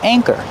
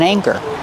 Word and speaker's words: anchor: Use a long A like say and day. A, anchor. And the second syllable is the like burger. Together, anchor.